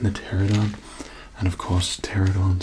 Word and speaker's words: Pteranodon: I mean the pterodon, and of course, pterodon spelled with a P at the front, just to be extra confusing for you.